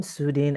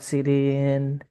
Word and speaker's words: Sudin: I'm Sudin actually, not Sidin. Oh, how to pronounce Yeah, your name? Sudin. Sudin, yeah.